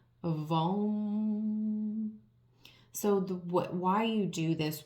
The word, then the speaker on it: vam: It may sound funny, but it's spelled V-A-M, VAM. So the way this sounds when you are in meditation and when you speak it and chant it, it sounds like VAM, except instead of OM that we're used to